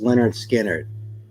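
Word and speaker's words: Lynyrd Skynyrd: cover VG plus vinyl pronounced Leonard skinnard yeah it has Freebird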